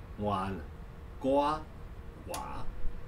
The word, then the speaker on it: 温哥华: The last three characters, Wan Gua Wa, means mild, warm. Gua is older brother. Wa is Chinese. That phonetically made it possible for a Chinese speaker to go Vancouver, Vancouver.